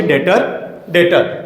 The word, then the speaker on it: debtor: Seventh accounting term होची डेटर Jote हमर B silent है। डेप्टर किए ना, डेटर इज a person who ओज amount to the enterprise against credit sales of goods और सर्विसेज।